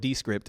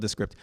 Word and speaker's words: Descript: Okay, one killer tool is Descript, they call it Descript, it's spelled Descript, Descript.